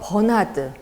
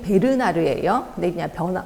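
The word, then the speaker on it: Bernard: 학자들 쭉 있는데이 중에서 버나드 정확히 발음이 베르나르에요 변화드라고도 나오더라고요 b라는 거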